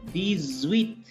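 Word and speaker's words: dix-huit: Here X is placed between I and H. H is considered as a semi-vowel in French. So X will be pronounced as Z. So these with.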